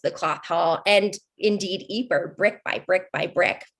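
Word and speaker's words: Ypres: of peace of course the british didn't know how to pronounce it when they first got to the eeper salient so they just pronounced it wipers you might be uh you might know of the broadway performance the wipers times that was performing in london wipers is anytime you hear that they mean eeper we all like to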